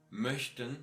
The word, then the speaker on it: möchten: Yeah, if we go on for a short and fast version of Ö, you will have there at least 2 consonants following it. And here I put some of them like möchten, C, H and T